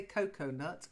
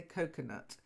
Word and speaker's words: coconut: was a misspelling but we don't say cocoanuts we say coconut because they're nothing to do with cocoa okay so it's just coconut without the a ok ah I